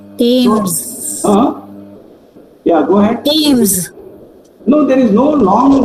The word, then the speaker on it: Thames: Thames. Pardon? Go ahead. Thames. Who is this? Yeah. Can you say it again, ma? Thames. Thames. Okay. So there is no th sound.